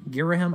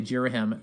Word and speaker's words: Ghirahim: pronounce his name although if you're reading the Japanese it's literally Gita he mu so I guess you're a him I say Ghirahim people told me to say jeera him that